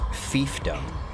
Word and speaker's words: fiefdom: and technically it's pronounced fiefdom it's a fief not a fighting word you pronounce the second